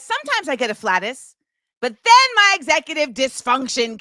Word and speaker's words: afflatus: Afflatus sounds really close to like flatulent, but that's not what it is.